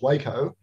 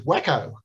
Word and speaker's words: Waco: glider um now actually although i'm pronouncing it like the town in texas waco apparently the the company name was wacko like really wacko and